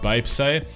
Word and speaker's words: 뱁새: BTS often call themselves as crow-tits, pronounced Baepsae, underdogs, those who started with disadvantages, with powerless and were powerless in the society, and so on.